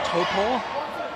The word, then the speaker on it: Taupo: It's pronounced Topor.